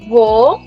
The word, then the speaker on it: voyage: It's pronounced as voyage.